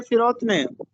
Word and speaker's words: فروتنی: لفظ استعمال ہوا ہے فروتنی، درست تلفظ ہے فروتنی، فے کے نیچے زیر لگا ہے، اس کا مطلب ہوتا